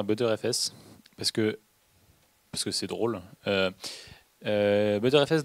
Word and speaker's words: Btrfs: Il dit ButterFS, enfin ça se prononce ButterFS, mais le nom c'est BTRFS pour Butter File System. Ouais, non mais c'est pas Better en fait, enfin ça se prononce Butter.